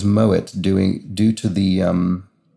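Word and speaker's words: Moët: blank a chandel that's moet a shandong looks like in french it should be pronounced moe but in fact is moet doing due to the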